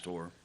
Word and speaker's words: Pasteur: It's Pasteur.